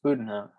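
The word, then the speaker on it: Bezuidenhout: But after Jason Day, you got, I want to say Budenhout, because that's what I like to call him, but it's Zayden Hute or whatever. No, you don't pronounce the Z. It's Budenhout.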